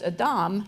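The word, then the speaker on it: אדם: and that was Adam whose name in Hebrew pronounced Adam means soil so I was really ignorant that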